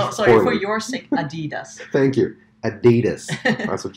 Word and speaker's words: Adidas: I love the way you say Adidas. Adidas. You gotta say it like American. No, it's not Adidas. American. Adidas. Is German-based. Herzog Norach. It's called Adidas.